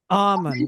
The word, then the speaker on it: Ammon: Ammon, yeah, Okay. and people ask, they're like, "Oh, you made up that?" No, it's my middle name, man. So, yeah, I that's what I use. Ammon.